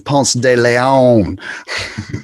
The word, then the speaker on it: Ponce de Leon: say it right all the time but it's ponce de leon yeah you got your atlanta history down bro